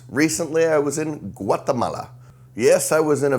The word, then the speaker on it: Guatemala: Me and Nicky set off for Guatemala, or as the Spanish say, Guatemala. I always get made fun of for saying it wrong.